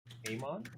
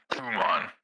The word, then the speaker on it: Khuman: So this third, I guess, pillar under Grodog, his name is Kumon Lumberfist. Amon? Kumon, like, so I- To spell it, it's KHUMAN. And then Lumberfist.